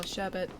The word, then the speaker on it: sherbet: But yeah, I pronounce it like there's an R before the end of the word as well, sherbet.